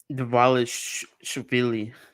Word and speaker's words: Dvalishvili: I think the D is silent. It's not.